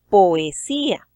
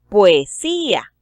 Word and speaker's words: poesía: Esta es una palabra que tiene 4 sílabas, pero por cuestiones de métrica la debemos convertir en una de 3 utilizando la sinéresis. Para esto diríamos entonces poesía. Ahí ya tenemos la palabra con 3 sílabas.